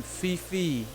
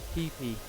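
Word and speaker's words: Phi Phi: of my stuff was legit it's the name fifi is how it looks p h i p h i p p that's how it's pronounced it's like the the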